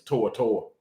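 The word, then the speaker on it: To'oTo'o: henry tortor that's his that's how he pronounced his name is tortor i don't know what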